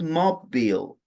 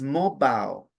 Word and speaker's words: mobile: It's not mobile, it's mobile. And I have been saying the word for a while. You shouldn't talk loudly on a mobile phone. On a mobile phone, not mobile, mobile.